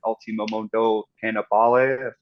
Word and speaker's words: Ultimo Mondo Cannibale: Their previous debut record, Ultimo Mondo Cannibale, I guess is probably how you say it.